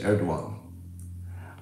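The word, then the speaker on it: Erdoğan: And if you say people know, the pronunciation is Erdogan.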